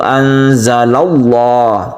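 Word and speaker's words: أَنزَلَ اللَّهُ: Kemudian anzalallah, lafaz Allah yang sebelumnya ada fathah ini kita sebut dengan lafdzul jalalah yang tafkhim atau dibaca tebal karena sebelumnya ada fathah, maka dibacanya itu anzalallah tebal. Lafaz Allahnya itu tebal maka disebut dengan tafkhim.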